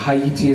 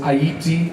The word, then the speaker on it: Haiti: The earthquake had happened in Haiti, or Haiti as I say, 3 syllables, Haiti, African word.